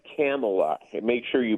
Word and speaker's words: Kamala: Yeah, it's Kamala. Make sure you pronounce that right.